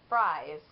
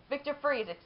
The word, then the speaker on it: Fries: I actually thought that, you know, his last name was pronounced as Fries, because you would say French fries, but that is clearly not the case. Okay, Victor Freeze, was a brilliant cryogenist.